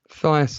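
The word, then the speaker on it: Thijs: I'm Dutch, so it's pronounced Thias.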